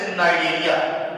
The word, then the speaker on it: Cnidaria: First of all, Coelenterata and the nickname and the other name of this phylum is Cnidaria, where C is silent.